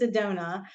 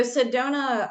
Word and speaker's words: Sedona: you actually said it brought properly it is Sedona so Sedona um is known for and really that originally